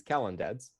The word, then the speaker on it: Kalandadse: is the origin uh so the pronunciation of my last name uh despite popular belief is calendars it's much more simple than people give it credit for it's from georgia